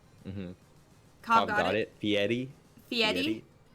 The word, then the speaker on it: Fieri: You gotta roll the R. What R? There is no R. There is an R. Oh, I'm looking at the pronunciation. Mm-hmm. Cobb got it. Fieri.